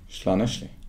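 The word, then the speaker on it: Llanelli: Slaneshli. Ja, det klarade ju uttalet. Nej, men... Perfekt. Jag vågar inte på med det. Nej, det stavas inte så, men det är uttalat så.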